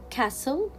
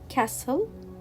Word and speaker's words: castle: common words like listen castle whistle belly soften fasten so in all these words we will not pronounce letter t why it is a